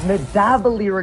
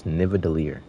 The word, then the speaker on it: Nidavellir: I am in the area known as Nidavellir in Grizzleheim. He just said Nidavellir. That is the wrong way of. That was the wrong pronunciation, brother. It's Nidavellir.